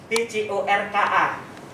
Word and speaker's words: Bjorka: BJORKA. Gimana bacanya?